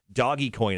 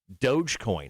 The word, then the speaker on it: Dogecoin: uh how about uh dogecoin now a lot of people i thought it was dojo like doja cat or you might have said doggy coin at first but dogecoin how do you spell